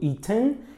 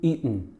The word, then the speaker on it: eaten: Então tem gente que pode falar o T, falando eaten, e tem gente que pode não falar esse T, falando eaten, eaten, tá?